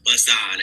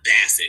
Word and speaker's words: Bassan: It's pronounced Bassan. It's not Bassin, you fucking.